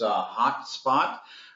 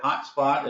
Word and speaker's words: HauteSpot: others can't the name of our company is hot spot the it's H a ute which is in German is pronounced boat and if you're ever familiar with